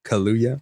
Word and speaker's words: Kaluuya: They hated, but yeah, Mattel's Barney film starring Daniel, who's, I can't say his last name wrong. I don't want to get yelled. What's that? Kaluuya.